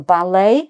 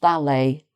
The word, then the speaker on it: ballet: So the ballet again no t at the end um pronounced ballet.